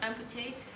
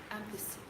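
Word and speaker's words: ampesi: Not amputate, ampussy.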